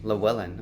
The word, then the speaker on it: Llewellyn: And I don't think I ever Yasmin's pronounced her daughter. middle name properly. Llewellyn, okay.